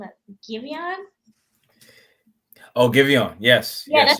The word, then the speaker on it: Giveon: Giveon. Oh, Giveon. Yes. Yeah, yes, you said it right. Giveon.